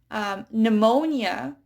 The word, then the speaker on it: pneumonia: Pneumonia is a type of cold or a type of flu. And so it's spelled with a P. But it's not pneumonia, it's pneumonia. It's a silent P.